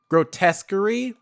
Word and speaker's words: Grotesquerie: recognize something that looks decent, but Grotesquerie, like it's spelled, it's like grotesque, the first part, and then query, which is Querie. I think that's how you pronounce it.